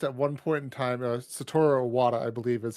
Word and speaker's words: Satoru Iwata: A former Nintendo CEO was asked at one point in time, Satoru Iwata, I believe is how you pronounce his name.